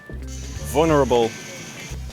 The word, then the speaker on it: vulnerable: But this second syllable is just a schwa, and sometimes it practically disappears. Vulnerable.